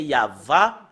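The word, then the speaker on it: יהוה: mais si nous revenons à l'hébreu ancien c'est yava le prononce la prononciation et si nous voyons euh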